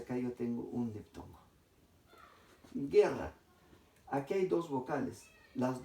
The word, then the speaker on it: guerra: Guerra. Aquí hay dos vocales. ¿Las dos vocales se pronuncian en un solo sonido? No, ¿verdad? Cuando yo digo guerra, solamente estoy pronunciando la E. No estoy pronunciando la U.